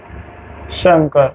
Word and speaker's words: शंकर: को ऐसे लिखेंगे, जबकि अब इसका शुद्ध उच्चारण अपन यही करते हैं हम लोग, शंकर, तो ये ऐसे लिखा जाएगा, इसलिए कई बार आपको ऐसा शंकर देखने को मिलता है।